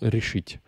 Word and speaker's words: решить: C'est tout le temps решить. C'est tout le temps sur la terminaison.